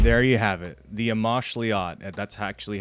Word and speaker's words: Amoxliatl: The Amoxliatl. That's actually how you pronounce it.